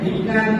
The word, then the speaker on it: Vignan: So I am Vignan, means a servant of wisdom. But if you pronounce it differently, same spelling could be pronounced as Vignan.